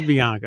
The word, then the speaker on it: Bianca: was talking about, that is it Bianca or Blanca? I'm getting confused. I can't tell what Bianca. Yeah, Bianca. It is Bianca.